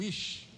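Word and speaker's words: איש: E em português fica muito ruim, muito feio, mas em hebraico é muito bonito, porque varão em hebraico é ir, ou ish, né? Se escreve I-C-H, ir.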